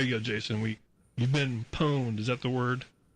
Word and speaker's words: pwned: I think it's spelled with a P, but you don't actually pronounce it.